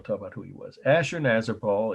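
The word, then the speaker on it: Ashurnasirpal: Ashur-nazir-pal is spelled Assur-Nasirpal. Assur-Nasirpal. Ashur-nazir-pal killing lions, just like it sounds, 3 words.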